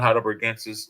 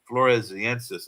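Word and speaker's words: floresiensis: Um it's a hyal not hidensis. It's um flores floresensis. It's so hard to pronounce.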